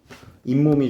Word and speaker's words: 잇몸: 여기서는 또 요새 선생님이 잇몸이 좀 안 좋아서 발음은 어떻게나요 잇몸 이렇게 나죠 근데 표기는 어떻게 해요 잇몸 이렇게 표기를 하죠 오케이 어 자 그러고 보니까